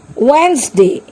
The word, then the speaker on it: Wednesday: Wednesday. Here D is silent.